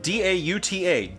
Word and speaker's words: Dauta: Brian Dauta, who helped me with that pronunciation. D-A-U-T-A, Dauta.